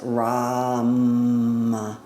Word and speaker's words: Ram: Our exercise is a higher toned Om, and the one syllable Sanskrit mantra is Ram. So Ram with an R, visualizing that yellow just